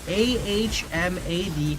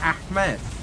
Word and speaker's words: Ahmad: It's A-H-M-A-D, Ahmed. But my mother spelled it with an extra A, so it's Ahmad, not Ahmed.